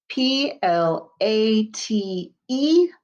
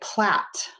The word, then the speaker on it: plate: l a t e make sure you put that magic e at the end because it makes the a say its name if you don't have that magic e it will say plot we want it to say plate p l p-l-a-t-e plate